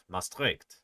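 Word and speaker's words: Maastricht: Mastric I'll try and remember that mastric we've got the emphasis on the second salap.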